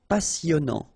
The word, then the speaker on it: passionnant: Okay, here you pronounce the double S because you've got a vowel, so it's really a strong one. Passionnant. Final T not pronounced.